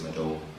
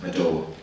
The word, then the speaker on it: Madowo: colleagues, if you say, they say, Larry Madowo, actually it's Madowo. They're like, Larry Madowo? No, Madowo.